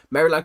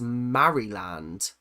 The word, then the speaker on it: Maryland: Um, I've pronounced them as Marryland. I I just pronounce things how they're said. It might be Marryland. I don't know. But I call them Maryland just cuz I find